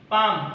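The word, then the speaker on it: palm: আঙ্গুর অলিভ অর্থ চলপাই পাম অর্থ তাল এখানে এল উচ্চারণ হবে না ওয়াটারমেলন অর্থ তরমুজ তামারিন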